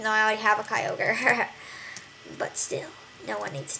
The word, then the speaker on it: Kyogre: Kyogre, yep.